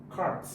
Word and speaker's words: cart: How would you pronounce the vowel sound in the word cart? Cart. Even though it starts with C, but we are hearing the sound k, k.